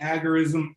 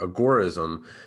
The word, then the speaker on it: agorism: thing i wanted to do was understand that pronunciation is what's got me because i hear agoraism agarism agorus agaris can you give me the official